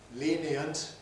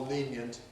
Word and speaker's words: lenient: A choice in the sense that the speaker can freely choose whether to say lenient as 3 syllables or lenient as 2 syllables. It really doesn't matter at all.